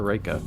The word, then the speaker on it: Reika: Is it Reika or Reika? If it's Japanese, it's Reika.